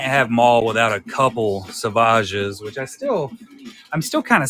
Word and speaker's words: Savage: I mean, you can't have Maul without a couple Savages, which I'm still kind of sad that you pronounce his name Savage instead of just Savage, because that's way cooler in my eyes.